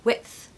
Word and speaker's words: width: okay really weird Whit and then you add a th sound okay which you got to put your tongue between your teeth in order to make that so width width I have to